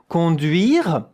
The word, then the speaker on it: conduire: De, conduire, you don't hear the E at the end.